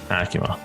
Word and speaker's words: ACUMA: when we asked people, how do you pronounce it? And the number one response was Acuma. So we're going with Acuma.